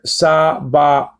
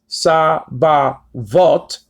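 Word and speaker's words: צבאות: Just like in the word sa-ba-ot. It's not pronounced sa-ba-vot or sa-ba-wot.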